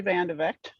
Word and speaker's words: VendeVegte: my name is vandevect much easier pronounced than it looks but yes i've been